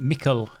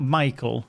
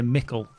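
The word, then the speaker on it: Michel: do you pronounce well i actually call it mikkel mikkel delving definitely not michael it's me i would say mickel but imagine m-i-c-k yell mikkel delving could be totally wrong but that is how i've always said it because i'm english is that good enough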